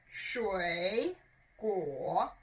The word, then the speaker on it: 水果: sri sri sri cool both of them are third town which means your tongue needs to go lower sure cool it goes lower and a little bit up sure cool very good tranquil now